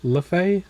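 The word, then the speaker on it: Laufey: Lefay.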